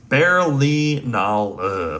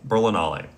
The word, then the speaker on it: Berlinale: Berlinal Berlinala um sorry it's German it's pronounced it's spelled Berlinale Berlinale um which is in Germany it's uh really